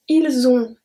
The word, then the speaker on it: ils ont: And finally, ils ont, elles ont, have the same pronunciation.